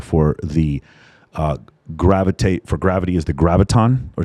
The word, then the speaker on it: graviton: Or is it gravitron or graviton? How do you say it? Graviton.